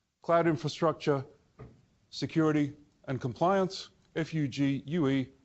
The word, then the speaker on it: Fugue: F-U-G-U-E, pronounce Fugue.